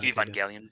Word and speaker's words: Evangelion: Like I cannot pronounce that though. Yeah. For that level though. Evangelion.